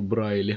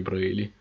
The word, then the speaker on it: Braly: Интересно факт, я всю свою жизнь произносил его фамилию неправильно. Я всю жизнь говорил Брайли, а не Брейли.